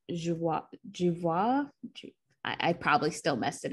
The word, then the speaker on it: Joie: So she grew up being called Joie. But she likes to be called Joie.